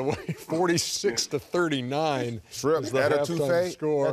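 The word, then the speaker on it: étouffée: Is the etouffee? Score. Etouffee?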